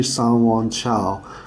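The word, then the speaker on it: Sanyuanqiao: So Q is mostly pronounced as a C. So it's actually Sanwon Chao.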